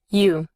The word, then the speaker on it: you: You. Observe que en este término OU se pronuncia como una U larga.